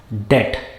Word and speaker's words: debt: when making important decisions it is not debt it is debt the b is silent a lot of people